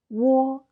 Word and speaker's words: 我: So the second one is wo, wo, wo as in whoa, whoa, wo as in 我, I, 我, I.